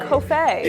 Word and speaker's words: Coffey: That's how it's pronounced. I know several people whose last names are Coffey. It's not Coffey. It's just Coffey.